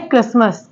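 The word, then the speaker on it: Christmas: ऐसे ही वर्ड है क्रिस्मस क्रिस्मस में भी यहां पर टी साइलेंट है तो क्या पढ़ेंगे क्रिसमस नेक्स्ट वर्ड है पासन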